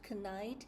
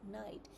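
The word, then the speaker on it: knight: For example, the word night, we don't pronounce the K sound. So it is a silent K, but it's still there. So it's pronounced not canite, it's pronounced as night.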